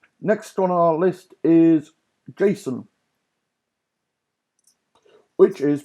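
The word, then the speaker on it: JSON: on our list is Jason which is pronounced like the name Jason but when you write this you drop the a Jason found for JavaScript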